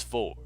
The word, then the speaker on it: Fjord: I'm just saying, Vanner, you call him Fjord so much that I thought you said it right. So I'm just like, what? It's Ford. So no worries.